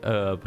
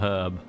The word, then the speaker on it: herb: silent who says who says the H is silent though cuz the H isn't silent in most other words where it starts you don't say helium do you instead of helium must be the French probably they're usually up to no good those cheeky French we all know what they're like some cheeky Frenchmen decided one day it was going to be herb not herb it does